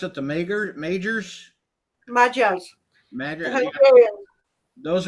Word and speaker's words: Magyar: of, um, like you said, how do you pronounce it? The majors, Magyars, the major.